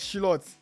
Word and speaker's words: Slot: Slot Slot. His name is pronounced Slot.